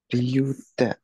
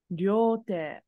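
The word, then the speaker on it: 両手: Ryu te. Hi, so te is correct, but it's not ryu. Ryu sounds like the word dragon. This is ryo. Ryo te.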